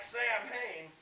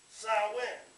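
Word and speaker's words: Samhain: origins in an ancient Celtic Festival known as sawin now it looks like Sam hay but it's actually pronounced s in and that was a festival at the end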